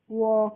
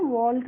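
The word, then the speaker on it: walk: ए एल के तो डब्लू ए एल के को हम पढ़ेंगे वक किसको वक पढ़ते हैं वलक नहीं पढ़ते हैं ठीक है और वक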